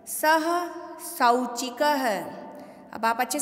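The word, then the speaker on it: सौचिकः: अब आप अच्छे से सुनिए, यदि स के ऊपर मात्रा किसकी दिख रही है हमें? ओ की मात्रा नहीं है, ये औ की मात्रा है। यदि मैं इसको सोचिका पढ़ूंगी तो भी वो अशुद्ध माना जाएगा। ठीक है, हमें स में औ की मात्रा, तो हमें सौ इसका उच्चारण करना पड़ेगा, तभी वो शुद्ध कहलाएगा।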